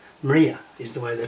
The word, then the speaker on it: Mriya: that's not correct it should be a y maria maria is the way they pronounce it and it should be a y